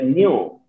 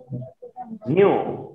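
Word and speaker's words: nu: ইউ না, আমি এটা উচ্চারণ করতেছিলাম, তোমরা ফলো করো, আমি উচ্চারণ করে বলছি এটা নিউ, নিউ, ঠিক আছে?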